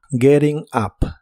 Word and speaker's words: getting up: up que significa levantándose la t del verbo Getting en inglés americano se suele pronunciar como r y la u de Up se pronuncia como a Getting up Getting up Y estos son los